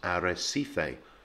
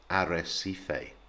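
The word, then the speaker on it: Arrecife: You say all of the syllables and you say what you see, so it becomes arecife, with the emphasis on the last syllable but one. So arecife, arecife.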